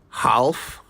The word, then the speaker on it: half: LF did you say half well it's actually half the L is silent the same rule applies